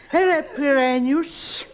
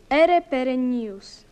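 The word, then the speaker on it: aere perennius: Exegi monument erper pranius. To jest akcent angielski. Angielski. Ale można i tak.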